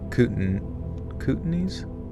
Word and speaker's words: Kootenays: Kootenays?